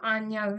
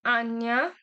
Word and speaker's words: Anja: Next we have das ist Frau Anja. That means this is Miss Anja. See, J is pronounced as Y, so you need to keep that in mind.